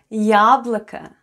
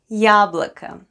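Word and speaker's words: яблоко: of the word yablika the first sound is ya and it's stressed then goes then goes le then we have o both letters or are unstressed and pronounced as a yablika yablika try saying it with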